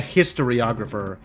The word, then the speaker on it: historiographer: You think the emphasis in historiographer is on the second syllable. Oh, so not a historiographer, a historiographer.